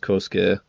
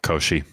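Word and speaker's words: Koshchei: I thought it was pronounced Koske like the deathless. Uh no Koshi.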